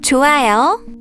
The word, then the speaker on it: 좋아요: For example, in 좋아요, the hiat is not pronounced.